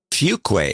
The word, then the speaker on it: Fuquay: How do you pronounce it? Fuquay.